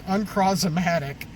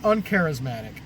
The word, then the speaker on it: Uncrawsimatic: Uncrawsimatic is how he pronounced it. And it was just to show their difference in how smart one character is versus another one. The name of the card is Uncrawsimatic, not Uncharismatic.